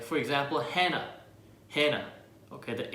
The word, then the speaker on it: Hannah: Okay, the H at the end is not even pronounced in English, so it's also same in Korean. It should be Hana or Hanna, or any way you want to go at it, but the H is silent at the end.